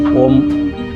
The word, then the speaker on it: ओम: कम 3 बार करेंगे और जब आप ओ बोलेंगे तो आपका मुंह खुला होगा और जब ओम में म की उच्चारण को आप अपने तालु से स्पष्ट करेंगे तो आपका मुख द्वार बंद हो जाएगा।